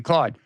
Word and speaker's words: Claude: clo the AI yes they don't pronounce it that way but but the Canadians the Canadians uh there do but but the others pronounce it Claude um yeah they make